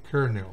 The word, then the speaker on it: colonel: fíjense la palabra colonel se pronuncia realmente kernel igual que la que